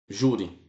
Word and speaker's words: júri: Júri. Olha, júri. Então já sei que a sílaba tônica é essa aqui, ó. Essa aqui. Então, essa palavra é paroxítona, tá?